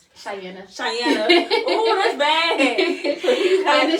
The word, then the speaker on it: Chianna: How do you pronounce it? Chianna.